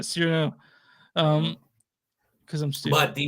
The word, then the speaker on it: Cyrano: But anyway, yeah, anyway, I pronounced it like Serrano pepper for a minute, like Serrano, but Cyrano, yeah, Cyrano.